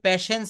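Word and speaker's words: patience: বেঁধে গিয়েছিল thanks for এই উচ্চারণটা হবে প্যাশেন্স হেয়ারিং কি হবে বলেন থ্যাংকস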